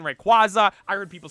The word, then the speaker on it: Rayquaza: that lady get he's like oh a Shiny Rayquaza I'm like she said recu right he's like yeah I did I was